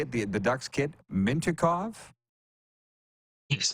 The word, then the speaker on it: Mintyukov: The Ducks kid, Mintyukov? Yes, Mintyukov, yep.